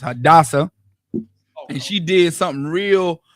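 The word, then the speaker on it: Hadassah: in the Bible but her Hebrew name is pronounced hadasa and she did something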